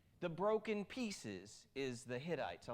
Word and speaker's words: Hittites: people the Canaanites the is it called Hittites okay I said it right the armorer right the